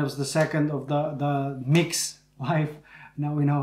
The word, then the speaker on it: MYX: And it was the second of the mix. Life, now we know how to pronounce it.